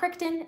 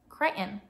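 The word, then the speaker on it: Crichton: Dragon Teeth by Michael kryon and I finally learned how to say his last name it's not crion it's not kton it's kryon sure it's Michael kryon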